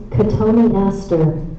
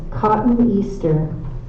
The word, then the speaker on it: Cotoneaster: Your word is cotoneaster. Cotoneaster. Can you repeat that? Cotoneaster. Are there any alternate pronunciations? Yes, Cotton Easter.